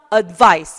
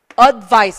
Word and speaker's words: advice: 자, 이런 단어가 AD로 시작하는 단어가 대부분의 경우 뒤에 강세가 와요. 그래서 advice 이렇게 발음이 돼요. 발음 한번 해볼게요. advice 이렇게 발음하시는 거예요.